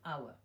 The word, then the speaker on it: hour: برای همین این رو شما تلفظ نمیکنید، فقط میگوید hour.